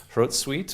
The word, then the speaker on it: Hrotsvitha: rotzvitha wrotes with rosavita apparently the pronunciation in old saxon is throat sweet which is different than what i'd ever said um so anyway we're